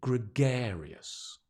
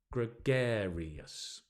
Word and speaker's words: gregarious: okay good nice word say it with me gregarious can you say that it's a lovely word meaning extrovert or social right gregarious I think it goes gregus gregarious gregarious and your friends or acquaintances